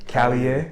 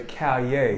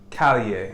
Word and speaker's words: Callier: Callier? Yes, sir. Somebody else say Callier. No, sir. Callier.